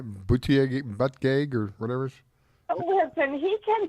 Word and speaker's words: Buttigieg: Buttigieg or whatever. Listen, he can pronounce it any way he wants to. He's calling it Buttigieg or something instead of butt gig. It's butt gig. I mean, it's spelled B-U-T-T.